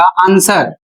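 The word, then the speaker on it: answer: व का उच्चारण नहीं होगा। अर्थात डब्ल्यू यहां पर साइलेंट है।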